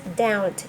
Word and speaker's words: doubt: explain you more first doubt doubt means a question doubt here b sound is silence is silent okay doubt d o u b t here b is silent doubt means questions question